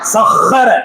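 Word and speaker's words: سخّر: சஹர அது ஹா, அந்த ஹா உச்சரிப்பு வரணும்.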